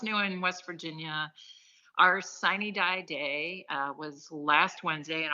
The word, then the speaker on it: sine die: the term by our Sine Die Day, which I recognize I'm pronouncing that incorrectly, but that's how we say it in West Virginia, is Sine Die.